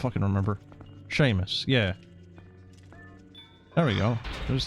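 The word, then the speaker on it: Seamus: You lulled when internet historian called Samus. Samus samus. How the hell do you pronounce the Irish name? Samus. Sam Sheamus. She Sheamus. Oh, I don't remember. Sheamus.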